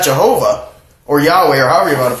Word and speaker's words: Yahweh: Certainly not Jehovah, or Yahweh, or however you want to pronounce it. Yahweh would be the proper pronunciation, because to say Jehovah or Yehovah it's just different dialects for the same word.